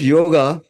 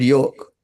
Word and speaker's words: yoga: I want to clear the confusion some people pronounce yoga as yog even some of the well read achara is also pronounce it yoke in my opinion it is Yoga because is